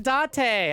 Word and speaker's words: Date: I'm saying Date. I'm not saying Dante. I would very much pronounce the N in Dante.